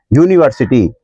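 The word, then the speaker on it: university: यूनिवर्सिटी, इसमें भी उच्चारण हमारा य से शुरू हो रहा है, लेकिन जब हम मीनिंग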